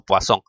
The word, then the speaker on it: Poisson: escribe de esa forma que por cierto es un apellido francés ya se lee más o menos como poasón ahora también algunos libros